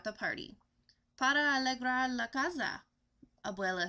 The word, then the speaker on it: casa: Para alegrar la casa, Abuela says in her merry voice, pronouncing the casa with a Z instead of an S.